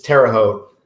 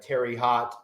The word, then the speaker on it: Terre Haute: It's Terre Haute. So when people come into the show or come into the shop and say Terry Hot or Terra Hoot, I know they're from out of town.